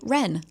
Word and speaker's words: Ren: Whenever they say her name, they say Ren like the bird.